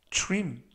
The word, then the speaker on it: trim: 이번 표현은 trim 이라고 발음하시면 되겠고요. 이때 tr 발음은 true.